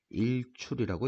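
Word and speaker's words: 日出: 뭐라고 읽죠? 일출이라고 읽습니다. 일출.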